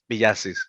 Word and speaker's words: Villacis: love the fact that you said my last name uh piyasis that's uh it's refreshing to actually hear that the last name pronounced the right way man so thank you